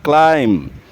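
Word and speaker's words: climb: क्लाइम में B silent है। इसे बोलते हैं क्लाइम।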